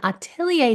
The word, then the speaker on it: atelier: Yeah, so Mandy is an expert in atelier training and art education.